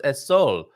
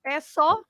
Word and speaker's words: é só: É só. Okay. Yeah. So S-O with an accent on the O. Só. Is it?